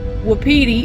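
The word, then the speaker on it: Wapiti: But something we've learned since we've been out here, Wediti is how you say it, and it means elk. And I don't remember which native tongue, but one of the tribes called elk witi.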